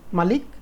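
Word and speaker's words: ملك: হচ্ছে মালিক আবার বলতেছি উচ্চারণের মধ্যে একটু ডিফারেন্স আছে একটা হচ্ছে মালিক আরেকটা হচ্ছে মালিক অর্থাৎ একটার মধ্যে ম এর পরে টান নাই মালিক আরেকটা হচ্ছে ম এর পরে একটু টান আছে মালিক এখন মালিক আর মালিকের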